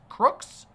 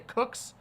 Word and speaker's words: Crooks: His name was Thomas Matthew Crooks. Let me just make sure I pronounced that correctly. I wanted to say Cooks, but no, it's Crooks.